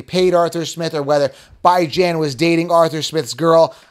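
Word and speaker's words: Bijan: channel because it's funny I'm the only one pronouncing by Jan right if you're new to the channel by bi as in biweekly and Jan as in ran and it's so funny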